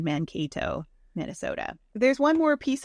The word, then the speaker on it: Mankato: Mankato. Thank you, everybody, for correcting my pronunciation. Mankato, Minnesota.